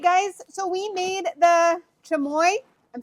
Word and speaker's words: Chimayo: So, we made the chammoy. I'm saying it right now because somebody taught me how to say it properly. We made the chammoy chili chili um simple syrup.